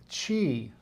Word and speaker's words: Qi: Now, in Qigong, we call energy flow Qi, Q-I. Sometimes it's spelled C-H-I, but mostly I see it spelled Q-I.